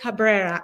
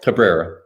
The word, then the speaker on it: Cabrera: We have the one and the only famous Cabrera. And if I pronounce it not right. No, you're saying it right. Yeah. Yep. Say it. Cabrera.